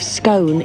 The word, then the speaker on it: scone: are you kidding me the correct pronunciation of scone is scone it's never been a scone look it's like bath